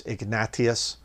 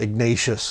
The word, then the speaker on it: Ignatius: it by the way it's Ignatius if you understand the spa the Spanish language uh it's not ignacious that's an American way to say it but try to